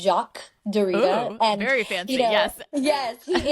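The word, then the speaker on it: Derrida: want to say his name right but it's Jac Dita very fancy yes yes he introduced the concept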